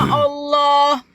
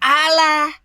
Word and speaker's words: Allah: Kalaunya kosakata bahasa aslinya Allah jangan kau ubah Allah. Udah betul bahasa Arabnya Allah. Lalu kalian ubah Alah.